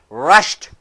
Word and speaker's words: rushed: unvoiced consonant rash placidi rashid in the written english but in spoken english rushed single syllable rushed so single syllable here